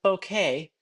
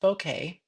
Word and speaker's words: bouquet: why not grab grab a piece of the bouquet now it's spelled b o k and I have been watching ladies who are absolutely positive it's pronounced boket um and I looked it up because I